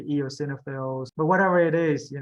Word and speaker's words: eosinophil: is the hardest one remember the the emphasis is on the middle so say EOS perfect see very simple very